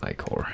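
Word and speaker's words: ichor: That's pronounced Icor.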